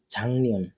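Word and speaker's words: 작년: হয়ে যায় ঠিক আছে তাহলে সেক্ষেত্রে কি হবে ঝাং নিয়ন ঝাং নিয়ন মানে হচ্ছে গত বছর এবার পরে এটার উচ্চারণটা হবে ওল ওল হ্যাঁ হ্যাঁ কিন্তু উচ্চারণটা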